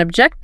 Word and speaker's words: object: Record the verb. Present the noun. Present the verb. And object the noun. Object the verb.